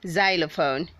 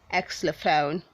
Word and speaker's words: xylophone: say woman don't say woman read 484 is pronounced xylophone say xylophone don't say excellophone word 485 is pronounced zander say zender dante